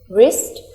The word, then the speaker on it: wrist: here u is silent wrist here W is silent hope here E is